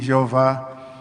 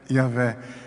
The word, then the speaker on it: Yahvé: Jeová é um nome artificial, vamos assim dizer, porque a pronúncia mesmo bíblica, científica, podemos assim dizer, isso já foi feito estudos ao longo dos séculos, pessoas que se dedicaram a vida inteira nesta área, e todos a uma chegam à conclusão que a pronúncia dos hebreus, a pronúncia dos profetas, de Moisés, dos juízes, dos reis de Israel, se dirigiam a Deus como Yahvé.